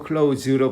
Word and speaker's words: clothes: 클로스 그러면은 클로스 발음을 하면은 이거는 천각을 마르는 거. 천 그리고 클로우즈인데 클로우제 z제트 발음 하나로 클로우즈로 발음하면 되거든요.